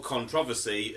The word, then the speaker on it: controversy: be in tonight's discussion, because controversy, or controversy as it's actually pronounced here in England, is prolonged public disagreement or heated discussion.